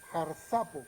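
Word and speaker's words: ἁρπάζω: En el original griego lo podemos encontrar con la palabra griega jarsapo, con acento en en la segunda A, jarsapo con J, jarsapo es la palabra griega.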